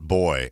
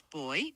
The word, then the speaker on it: buoy: When I was in England a couple weeks ago, they pronounced it boy. And aren't you English? Yeah. Yeah, you're right. In British English, it's boy.